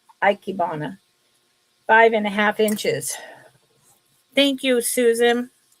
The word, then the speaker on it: ikebana: Ikebana. I always say icky. That is wrong. Ikebana.